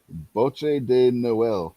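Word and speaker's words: bûche de Noël: yes it is sugar plums what is a bocce de noel commonly eaten in france at christmas oh i knew her spell that would you please log yes g23 got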